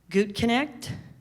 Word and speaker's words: Gutknecht: So I just want to clarify for those of you involved, my name is Gutknecht. It's Gutknecht.